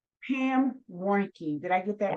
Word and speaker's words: Warnke: Pam, tell us your last name so I don't mispronounce it. Sure, it's Warnke. Pam Warnke.